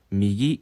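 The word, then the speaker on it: 右: 오른쪽 을 뜻 하는 " 미기 " 라고 읽습니다 .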